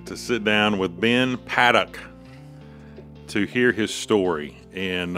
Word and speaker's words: Paddock: But it's Paddock. And many people make that. Right. Same pronunciation.